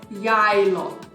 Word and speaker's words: Geilo: The name of this resort we are pronouncing as Geilo.